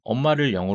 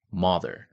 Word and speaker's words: mother: 영어 에서 "mother" 를 발음 할 때 "mo-ther" 라고 하지 않 죠 ? 이 'o' 는 " 어 " 소리 를 내므로 " 마더 " 로 발음 됩니다 .